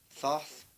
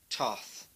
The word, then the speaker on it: Thoth: of thoth or Toth whichever way you pronounce it if you're British like me you would call it Thoth or Thoth the Americans say tough for some reason so I'm not going